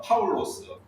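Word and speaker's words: Παῦλος: 활동할 때는 어 파울로스 그러니까 헬라식으로 제으로 바라면 파울로스라고 이렇게 부르죠. 왜냐면 그 헬레니즘 시대에는 사울이라고 하는 유대의식 발음을 그 하기가 사람들이 이제 불편하니까요. 그래서 두 이름을 이제 같이 썼고 사울은 어느 식발음이다? 히브리식 발음이다.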